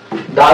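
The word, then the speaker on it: the: ये second article है द। वैसे तो मैं आपको बता दूं दा का प्रयोग और दा का उच्चारण दोनों ही हम सीखने वाले हैं। इसको हम दा भी बोलते हैं और इसको हम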